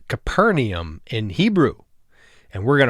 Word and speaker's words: Capernaum: to a place called Capernaum it's actually pronounced kuffar Nahum the village of Nahum in Hebrew both in this session and the next one to follow we're gonna stay in Kafar nee him as we take a